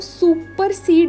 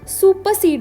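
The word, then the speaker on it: supersede: अब इस वर्ड की प्रोनाउंसिएशन में भी जब हम आर की बात करते हैं तो सुपरसीड नहीं बोलना, आर को साइलेंट रखना है, सुपरसीड बोलना है।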